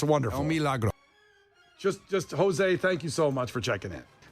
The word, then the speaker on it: El Milagro: El Milagro, that's exactly how you say it.